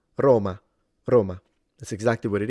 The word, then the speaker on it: Roma: It means take this syllable, ro, and lengthen it to at least double its length. Ro, and then ma, which means the city of Rome. Roma, Roma.